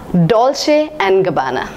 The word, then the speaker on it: Dolce & Gabbana: Dolce and Gabbana yes don't say and Gabbana I have heard many people pronouncing it as Dolce & Gabbana I'm sorry they are wrong this is pronounced as Dolce and Gabbana the next word in